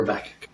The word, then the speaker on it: Habakkuk: Habakkuk. Sometimes pronounced Habakkuk, but I prefer Habakkuk.